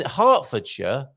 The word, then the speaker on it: Hertfordshire: Burk hams um in hartfordshire um spell Hertfordshire and nicely phonetically written there for us hartfordshire um to one of